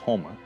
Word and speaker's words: homa: The term Okla could mean like a group of people, and then the word Homa, it's pronounced Homa, is the color red.